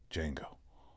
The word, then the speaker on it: Django: The D is silent. Django.